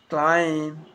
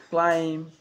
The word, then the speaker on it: climb: It's always silent when it follows the letter M. Climb, crumb, lamb, thumb, dumb, and plumber. So practice them with me. I am not pronouncing the B, I am just pronouncing the M consonant sound.